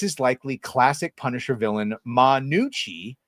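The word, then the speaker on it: Gnucci: likely classic Punisher villain, Manucci. I'm assuming the G is silent, not Ganucci."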